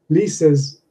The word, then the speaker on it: Lisa's: If you think of Lisa, 2 syllables, Lisa's also 2 syllables.